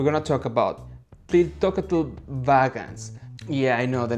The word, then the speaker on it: Tliltocatl: hand with this so the pronunciation goes like this i'm going to read i'm going to repeat it again ti lil toe which means black spider in in mayan language or inaudible mexican words